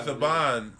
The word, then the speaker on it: Saban: It's pronounced Saban.